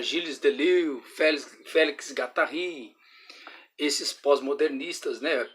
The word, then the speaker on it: Gilles Deleuze: Vou falar dos pós-modernos, os pós-modernistas, que também, junto com Gramsci, atua fortemente aqui, desde Michel Foucault, desde Gilles Deleuze, né? Ele é um francês, pronuncia Gilles Deleuze, Félix Guattari, esses pós-modernistas, né?